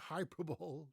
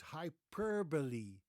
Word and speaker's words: hyperbole: Does this word rhyme with Super Bowl? Super Bowl? No, it does not. It's actually It's not hyperball. No, it is hyperbole.